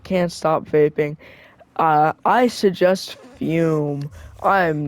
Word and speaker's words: FÜM: Fume.